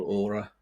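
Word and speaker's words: Åre: And uh there's another one in Sweden called Aura. Um which is spelled A R E but it's A with a little accent above it.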